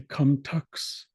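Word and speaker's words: kumtux: k for comeu now it's spelled with a t in the middle so you can say come tux with it more of a t sound but what it's really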